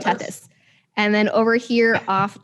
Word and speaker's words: Tethys: this one it's uh it's a t t e t h y moon i cannot pronounce its name is that uh tethys is that this maybe that's how you have tethys and then over here